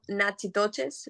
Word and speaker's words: Natchitoches: So it's spelled Natchitoches, but Okay.